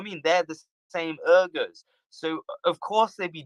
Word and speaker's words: Uyghurs: I'm sorry if I'm mispronouncing it. Yeah. No, you're not mispronouncing it. It's just a language difference.